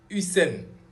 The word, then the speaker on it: Hussein: Maintenant, Hussein. Hussein, vous entendez Hussein. Hussein, ça a la même prononciation avec Usain Bolt. Ça a aussi la même prononciation avec Saddam Hussein.